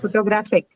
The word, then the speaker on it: photographic: photographic. This one is non-aspirated, right? Because see, the stress is on the third syllable and it does not have per, or k, right?